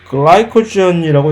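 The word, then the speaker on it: glycogen: 그렇게 저장해 놓은 녹말을 허탈하게 우리는 감자, 고구마, 쌀 하는 식으로 우리가 훔쳐가서 우리가 먹고 있는 것이고, 글라이코젠이라고 영어로 이제 발음을 하게 되는 글리코겐이라고 하는 것은 동물도 질소냐, 우리도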